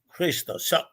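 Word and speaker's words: Χριστός: And the P in Greek and in Russian is an R. So XP is Cairo, sounding like the city of Cairo and have nothing to do with it. And it's pronounced Christos.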